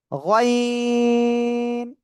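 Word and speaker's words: غين: গয়িন। তিন আলিফ টেনিয়া এটা উচ্চারণ করবেন। কয় আলিফ? তিন আলিফ টানিয়া এটা উচ্চারণ করতে হবে।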